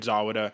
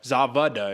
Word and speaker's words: Zawada: very incredible win over david zawada zavada excuse me i just found out that's how you pronounce the german names the w's or b's so zavida david zavida